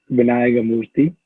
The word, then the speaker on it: Vinayagamoorthy: down for us so my last name is pronounced as vinaya murthy okay yeah i feel